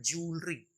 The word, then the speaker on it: jewellery: फिर देखिए बहुत ही ज्यादा मिसप्रोनाउंस होने वाला ये वर्ड JEWELLERY, एक्चुअली ये होता है ज्वेलरी, ज्वेलरी, ना कि ज्वेलरी.